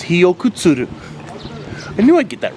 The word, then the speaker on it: Hiyokutsuru: yeah I was right I got the name wrong it's hiok kuturu I knew I'd get